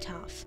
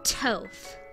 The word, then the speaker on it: Toph: Or you may know me by another name, the wrong one, Toph. Yeah, that's right, I've heard people pronounce my name like those coagulated chunks of soy milk, tofu. Blech.